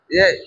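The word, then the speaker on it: ج: সা উচ্চারণ করে আসছে, জিমের কাছে এসে আবার যা না বলে জিম বলে দেয়। বা তা সা জিম, জিম না, তখন হবে কি যা।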